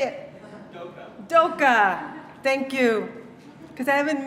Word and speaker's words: Doka: Doka, thank you, because I haven't met you yet.